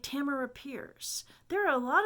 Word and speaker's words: Tamora: it tamora but it's it's not pronounced tamora but but how would they know that unless they've actually been in an audience where she says no my name is pronounced tamara so i mean yeah